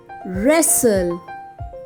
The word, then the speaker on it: wrestle: first word is wrestle can you hear sound of w in wrestle no w is silent wrestle second word is regal